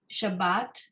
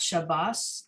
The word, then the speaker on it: shabbat: page roman numeral 28 that um we read shabbat and meets fa not shabbas and meets foe right sparta pronunciation